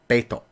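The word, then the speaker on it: Bete: And I'm not really sure how to pronounce his name either, because it's written B-E-T-E, but pronounced Beto. So I first thought it was going to be Bait, like B-A-I-T, but I don't know. It's pronounced Beto, written B-E-T-E.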